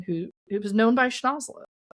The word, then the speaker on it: Schnozzola: Um and it really should pronounce I pronounced it wrong actually in the narration. It's Schnozzola.